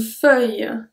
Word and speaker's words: feuille: Numéro 20, une feuille. Une feuille. So here, it's mostly like a feuille. We don't pronounce really the I or the U.